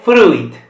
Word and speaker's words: fruit: Questa è fruit. In future lezioni parlerò delle vocali. Per adesso ignoriamo la I. Quindi fruit. Significato è un frutto, ovviamente. Quindi la I non si pronuncia.